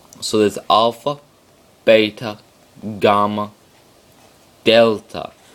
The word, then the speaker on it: delta: would help you, and it's a D sound. D, delta.